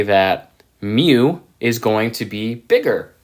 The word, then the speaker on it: mu: parameter that we've been using a lot is Mu and that's pronounced mu okay and that is the population